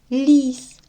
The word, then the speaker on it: ліс: чи однаково вони вимовляються давайте порівняємо лис як тут звучить л лис лис л л так л твердий позначимо звук однією рисочкою а в слові ліс як звучить л ль ль ліс спробуйте повторити ліс ль